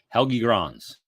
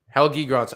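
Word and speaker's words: Helge Grans: It's Helgi Grans. Helgi Grans.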